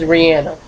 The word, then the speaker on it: Rihanna: picture of piano and don't say I'm saying her name wrong because she says her name like that her name is Rihanna so I picture of